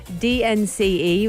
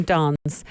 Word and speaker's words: DNCE: so as it stands dnce which is how i pronounce it but you can call them dance and i'll tell you